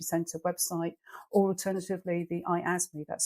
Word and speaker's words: IASME: national cyber security Center website or alternatively the I asthma that's spelled iasme website Who administered the Cyber essential